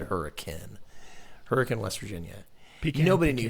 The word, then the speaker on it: Hurricane: That's spelled hurricane, said hurricane.